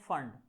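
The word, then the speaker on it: Pfund: एफ यू एन डी इसको पढ़ते हैं फंड यहां पी साइलेंट है ठीक है तो फंड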